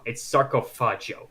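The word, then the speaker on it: Sarcófago: It's Sarcofaggio. Okay, that's how you pronounce it.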